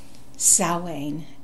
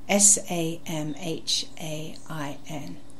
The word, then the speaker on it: Samhain: It's spelt with an M, but it sounds like a sow, like a female pig. Samhain, Samhain.